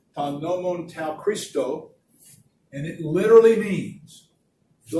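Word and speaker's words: τὸν νόμον τοῦ Χριστοῦ: This is the Greek, and it's pronounced ta nomon tau Christo, and it literally means the law of the Messiah.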